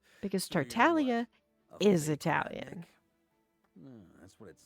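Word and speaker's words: Tartaglia: You're not supposed to pronounce the G in Italian. You don't pronounce it.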